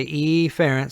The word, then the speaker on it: efferent: term for that is efferent with the stress on the E now again you can pronounce it efferent but I'm going to say efferent so we hear the